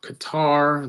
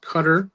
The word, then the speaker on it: Qatar: heard the pronunciation for it's not Qatar, it's Qatar.